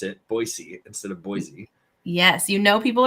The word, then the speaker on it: Boise: I'm a client success manager at CareerArc, and I'm joining you today from Boise, Idaho.